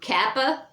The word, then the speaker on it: kappa: And there is no C in the Greek, so kappa is the only hard C that there is, which is your K sound, which is really what it should be, kappa.